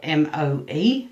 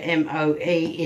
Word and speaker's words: Moe: You know, the town that I'm, the town is called Moe, which is spelt M-O-E, if you want to look it up. And unlike in The Simpsons, where M-O-E is like Moe's Bar, this is actually pronounced Moe.